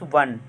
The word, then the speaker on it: one: When we pronounce वन, इट हैज़ a consonant sound in the beginning.